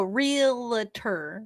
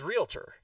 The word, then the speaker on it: realtor: do people say that oh realer yeah it's real you said it correctly which is realtor realtor I used to